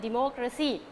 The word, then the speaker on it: democracy: ending with these suffix then the stress must fall on the third syllable again we have to count from the back word okay backward counting okay one two three for example democracy democracy democracy democracy d